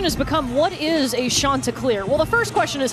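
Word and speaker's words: Chanticleer: And so the question has become, what is a Shanta clear? Well, the first question is, how do you say it? And it's Shanta.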